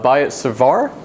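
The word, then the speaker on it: Biot-Savart: in a second we can also use uh buy it cervar i've been told the tea is silent here like colbert and basically we're looking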